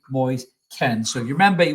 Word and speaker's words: Moise Kean: And it's Moyes Ken is I believe the pronunciation. Everyone called him Moyes Keen at Everton. It's actually Moyes Ken.